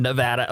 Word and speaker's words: Nevada: But if you happen to be out in Nevada, is that how it's pronounced, Nevada. Daniel? Nevada, okay.